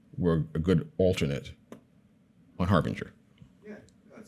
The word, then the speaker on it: harbanger: this s yeah and you pronounce it Harbinger Harbinger yeah the same way spelled like har Banger yes that's uh so